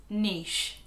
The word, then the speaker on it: niche: So the seventh word is niche.